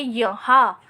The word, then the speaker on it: यहाँ: तो हा के बाद जो आधे न का उच्चारण करते हैं वो करते वक्त ध्वनि मुंह के साथ साथ नाक से भी निकलती है, इसलिए हम यहाँ पर चंद्र बिंदु लगाएंगे।